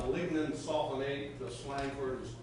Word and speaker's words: lignin sulfonate: It's pronounced lignin sulfonate.